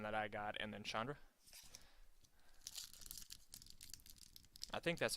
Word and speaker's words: Chandra: Like Nissa, the one that I got, and then Chandra? I think that's how you say her name. Is that her name? Yeah, it's Chandra.